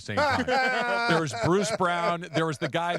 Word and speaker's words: Braun: There was Bruce Brown. There was the guy whose name is spelled Braun but said Brown from the Nuggets.